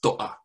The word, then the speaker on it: To'a: But I will say it's pronounced Toa. Toa. So the apostrophe is a glottal stop.